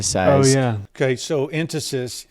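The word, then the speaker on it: entasis: spelled e-n-t-a-s-i-s um uh and I've I've heard the enunciation entices and and tacos and you know fastest is on the wrong syllabus yeah I think it's instances so um it's basically that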